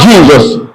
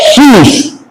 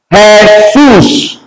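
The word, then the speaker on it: Jesús: J in Spanish is not pronounced as J, it's pronounced as H.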